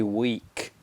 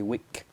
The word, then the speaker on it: weak: pronunciation he's very weak we need a the long e sound so he's very weak not he's very weak what i want to